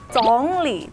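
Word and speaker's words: 总理: Oke, bahasa Mandarin dari Perdana Menteri adalah Congli.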